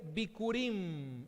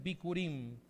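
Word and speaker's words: בכורים: La primera es bikurim, así se pronuncia en el hebreo, seguramente lo escribimos de otra manera, pero la pronunciación es bikurim.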